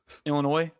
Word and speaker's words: Illinois: The S is silent Illinois.